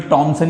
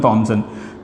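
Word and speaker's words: Thomson: H silent मान लो 2 minute के लिए। टॉमसन, वैसे हिंदी में टॉमसन ही बोलते हैं, थॉमसन नहीं बोलते, इंग्लिश में थॉमसन।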